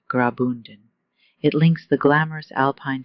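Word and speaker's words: Graubünden: The Albula line is part of the Rian Railway, a UNESCO World Heritage journey that runs quietly through the canton of Grobundon, that's pronounced Grabund.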